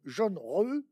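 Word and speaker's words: Zheng He: Alors, c'est écrit en français Zeng, et moi, vous dites qu'il faut prononcer jaune, jaune, re.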